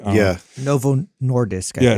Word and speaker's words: Novo Nordisk: zenek I believe there Novo nois is it norvo nois did I say it right yeah Novo Nordisk I yeah I say that three times fast